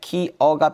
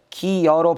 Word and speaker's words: 기어: 니은 첨가는 이런 거고요 반모음 첨가의 경우에는 일부는 표준 발음을 인정하지만 그렇지 않은 것도 있어요 이건 배웠다 아니네 반모음 이럴 테면 기어는 발음할 때 기어가 표준 발음이지만 기여로 발음하는 것도 허용되어 있죠 기억나요 그지 그런데 여로